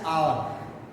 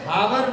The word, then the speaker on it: hour: In less than dash आवर। मेरे भाई वहां पहुंच जाएंगे 1 घंटे से कम समय में। लेस देन आवर बेटा ये हावर नहीं है, HOUR स्पेलिंग जरूर है, ये आवर बोलते हैं इसको।